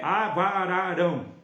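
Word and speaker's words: אברהם: pai de nações tá no hebraico é avão Amém pai de nações tá AB ararão tá no hebraico a pronúncia desse B de Abraão se pronuncia com v e ali Deus faz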